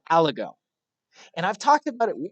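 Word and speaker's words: aligot: no lie no lie al ago it's French to the T is silent al ago it's like no lie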